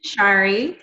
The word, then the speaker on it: Shari: Like, is it Shari? Like, what's the right way to say it? So my name is Shari.